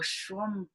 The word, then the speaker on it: Schwammberger: dharma teacher plum village uk dharma teacher michael schwamberger am i pronouncing your name right michael yep that's great